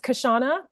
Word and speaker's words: Kashana: you Michael for that it's kashana but you can also call me like the letter k no problem at all